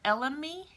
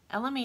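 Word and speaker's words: elemi: in our skin another option is frankincense or lme lme is spelled e-l-e-m-i it's called the poor man's frankincense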